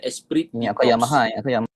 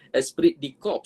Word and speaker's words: esprit de corps: Ejaan dia macam Esprit de Corps. Esprit de Corps, tapi bunyinya Esprit de Corps. Ini adalah bahasa Perancis tak silap saya, French.